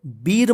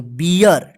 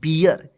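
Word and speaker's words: beer: बात ध्यान रखिएगा जैसे बी डबल ई आर इसको बीर मत पढ़िए क्या पढ़ेंगे बियर ठीक है ना बियर इसमें भी थोड़ा ध्यान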